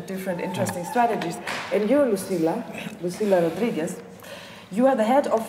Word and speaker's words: Lucila Rodriguez: And you, Lucila Rodriguez, you are the head of PorCausa. Mm-hmm. I pronounce well?